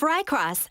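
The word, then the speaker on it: Rykros: Investigations are underway of Rycross, an enormous planet-sized hive in... Oh, that's how you pronounce it. Rycross? Interesting.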